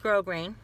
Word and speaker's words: grosgrain: it like roast green see that but it's pronounced grow green and if you've been around a while you